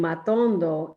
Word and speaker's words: matondo: what the tone means it basically means that you need to hit that word on the syllable where your voice needs to be rising so in matondo it's the second syllable so i'm going gonna